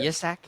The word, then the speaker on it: Jersak: it's Jersak, but you can say Jersak. Jersak? Yesak? Yeah, Yesak? Okay.